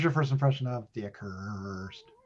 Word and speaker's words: Accursed: Mohr, what was your first impression of The Accursed? Which is appropriate that it rhymes with worst.